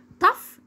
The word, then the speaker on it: tough: طب ولو جت معايا في اخر الكلمه بنطقها ازن زي صوت حرف الاف بالظبط. زي كلمه enough اللي هي بمعنى كافي. enough. tough بمعنى قاسي.